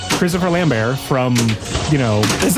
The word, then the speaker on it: Lambert: but it's it's a it's a it's Christopher Lambear from, you know, is that how you say his name?